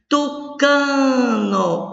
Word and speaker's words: tucano: Tucano, o cá é a sílaba tônica.